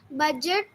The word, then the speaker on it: budget: Ma'am, grudge, grudge, budget, budget, Okay, only you need to read one time.